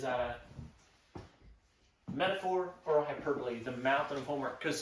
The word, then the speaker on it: hyperbole: Hyperbole. That looks like hyperbole. If I spell it correctly again.